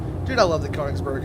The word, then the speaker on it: Königsberg: Königs? It's a long O because it's got an umlaut.